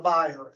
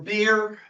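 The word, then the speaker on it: bier: you know what a buyer is it's the place where you lay a body or a beer depending on how you pronounce it in what part of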